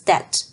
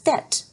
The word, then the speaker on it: debt: in it, and therefore pronounced without the letter B as that. So, even when the word was respelled to debt in early modern English, everybody would still say it as that, without the B.